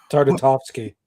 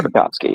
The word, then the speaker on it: Tartakovsky: Fuck, you take with Jendi, never going to pronounce his last name right. Tartakovsky. Thank you. Tartakovsky, yes.